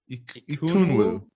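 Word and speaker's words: Ekwonu: How do you pronounce? Ikunwu. Ikunwu.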